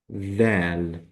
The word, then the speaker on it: د: So that means when we pronounce it, we will say dal, dal.